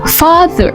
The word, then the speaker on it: father: Father contohnya ini father. Oke. Bukan father. Di sini juga enggak ada huruf R-nya kan?